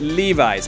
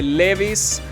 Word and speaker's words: Levi's: Exacto, en inglés se dice Levi's. Mucha gente dice Levi's, pero en inglés es Levi's.